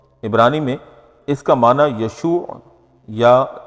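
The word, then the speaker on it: ישוע: سے معروف ہے۔ عبرانی میں اس کا معنی یشوع یا یسوع کے معنی میں ہوتا ہے، یعنی اس تلفظ کے ساتھ اس کو ادا کیا جاتا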